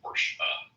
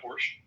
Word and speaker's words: Porsche: You just call a Porsche. Because that's how it's pronounced. I know. And then there's people like, "Yeah, man. I got a Porsche."